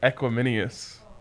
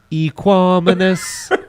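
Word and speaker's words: Equanimeous: I'm pretty sure it's like Equiminius. That's a name right there. That was a weird sound in the mic. I didn't like that whistle. Equanimous.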